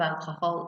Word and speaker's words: alcohol: So notice in Spanish, although it's the same word, alcohol, because we don't pronounce the H in Spanish, so it's instead of alcohol, it's alcohol.